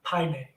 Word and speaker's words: Paine: There we go, Paine. Torres de Paine. There we go. Because her boat is actually named Lehe Paine.